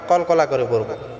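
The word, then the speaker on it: قل: কারণে আমরা এটাকেও আমরা কলকলা ধাক্কা দিয়া প্রিয় বন্ধুরা আমার আমার সঙ্গে পড়ুন বিসমিল্লাহির রাহমানির রাহিম কুলহু আল্লাহ আহাদ কুল এটা আমরা বড় কাফ উচ্চারণ করব হুয়াল্লাহুল্লাহ আমরা অনেকে আছি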